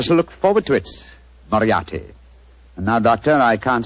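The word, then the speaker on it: Moriarty: it or mispronounce it I'm afraid I'll have to begin calling it the way it looks m o r i a r t y mariati mariati I shall remember that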